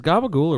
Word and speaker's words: capicola: They just pronounce the C's as fucking soft G's.